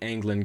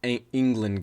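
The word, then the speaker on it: Englund: we're talking about the angland Gambit so angland Gambit not England Gambit it's Ango Gambit it's spelled e NL U and so englon Gambit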